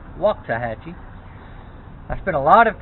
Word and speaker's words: Waxahachie: interesting thing about waxahachie it's spelled w-a-x so it looks like wax a hatchet but it's pronounced walk tahachi i spent a lot